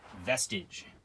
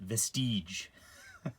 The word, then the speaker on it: Vestige: um so this is vestige or uh i like to mispronounce it vestige like prestige right um the story of